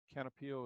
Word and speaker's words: Canopeo: Canopio is spelled CANOPEO, and it will give you a black and white photo.